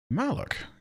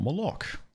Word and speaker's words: Malak: Malak. Kind of like in KOTOR, not Moloch.